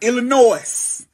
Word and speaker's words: Illinois: Now, these states right up in here, North Carolina, Virginia, West Virginia, Pennsylvania, Ohio, bitch, Michigan, Indiana, Illinois. I know that you ain't supposed to pronounce the S, but bitch, what is that for?